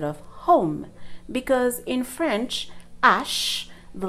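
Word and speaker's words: hache: will start with pronunciation the letter H in French is pronounced Ash the most important thing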